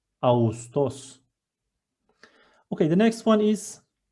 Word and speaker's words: Ağustos: And while I'm reading it, soft G combines two vowels, which are A and U, in a smooth way. I'm not reading it as Ağustos, I'm reading it as Ağustos, Ağustos.